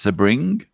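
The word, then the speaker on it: Sebring: guess hello from sunny sir bring a zit pronounced sir bring that seems to me how it should be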